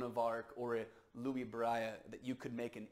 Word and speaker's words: Braille: l in French so it's like Louis braia or something like that is how it's pronounced in French he created in America we probably call it Braille and he created this